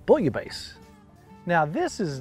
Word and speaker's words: bouillabaisse: pronounce this differently, but usually in the French, if there's two S's, it's not the Z sound, it's the hard S sound. Okay. So you might hear some people say bouillabaisse or bouillabaisse, or I think the proper pronunciation is bouillabaisse.